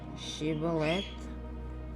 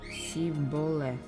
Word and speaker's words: Shibboleth: If he answered no, they told him, "Please say Shibboleth." If he said Siboleth, because he could not pronounce it correctly, they seized him and executed him at the fords of the Jordan.